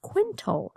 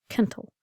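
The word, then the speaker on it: quintal: new word kinle uh when you look at it you might assume that it's pronounced Quint but no it's pronounced kentle uh kind of like kettle with an in um and one kentle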